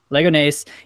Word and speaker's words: Leganés: How do you pronounce it? Leganes? Leganes. Leganés in the Copa del Rey to knock Real Madrid out of the Copa del Rey.